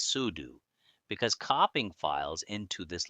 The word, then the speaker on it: sudo: We use sudo pronounced as sudu because copying files into this location requires system permission.